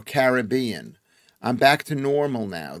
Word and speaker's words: Caribbean: said elite elixir and it was pronounced the way the English people don't pronounce Is it Caribbean? Caribbean. Caribbean or Caribbean.